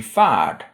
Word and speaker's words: färd: Journey gives you fard, and the month of March is mash.